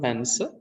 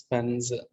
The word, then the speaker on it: pens: But this is voiced one. Na is voiced. So it is not pens, it is pens. It's pens, pens.